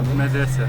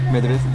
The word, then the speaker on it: Madrasa: How do you pronounce it? Madrasa. Madrasa.